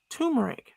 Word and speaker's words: turmeric: There's an R. an R before the M. So, tur tur turmeric turmeric turmeric.